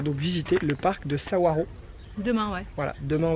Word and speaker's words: Saguaro: Nous sommes au parc de Saguaro, ça s'écrit Saguaro, mais ça se dit Saguaro.